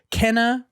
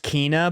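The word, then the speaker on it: Kena: artful escape death loop kenna or kana bridge of spirits i think it's actually meant to be pronounced kina by the way but i'm not 100 sure um psychonauts 2 and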